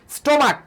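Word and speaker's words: stomach: আসছি যেমন monarch monarch monarch থেকে কি মনার্স স্টোমাক আমরা বলি না আমাদের যেই স্টোমাক এই স্টমাক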